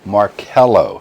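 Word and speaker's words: Marchello: Marcello. Markello. Thank you. From the Italians. Latin and Italian don't have a K, so the CH gets the K sound.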